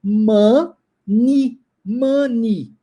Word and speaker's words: money: um som de ir e aí ó a pronúncia é mani mani E aí eu tenho certeza que você já ouviu as pessoas dizendo money money não Mona e espelhamento de língua você tem que trabalhar